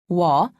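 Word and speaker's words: 와: me also written as wah is pronounced wa imagine that you are trying to say oo and all quickly be sure not to pause in between pronouncing the two sounds repeat after me also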